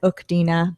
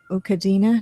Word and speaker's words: Ukina: her first name and I said okina before but it's not okina it's ukina no anyway Walker she's